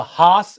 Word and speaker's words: Haas: I mean, I'm a huge F1 fan, so I get all sorts of British pronunciations. I also find it funny. Sorry, side note. The Haas F1 team, Gene Haas is American.